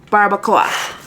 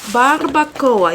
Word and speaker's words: barbacoa: So I got tacos al pastor and tacos barbacoa. Barbacoa. You gotta roll the R because that's how he asked him how to pronounce it. And he said barbacoa. Barbacoa. He rolled his R, so I don't know which is which.